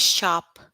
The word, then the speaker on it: sharp: You don't pronounce R. You pronounce H. Got it? Sharp. R is silent.